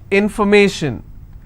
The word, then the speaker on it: information: will stress on stay if i have more number of syllables information first i will break it in for me shin so where do i stress i will stress on me information if i have the